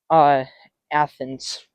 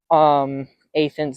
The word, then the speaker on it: Athens: I just realized, guys, I've been pronouncing Athens wrongly the entire time. It's actually called Athens, not Athens. So Athens.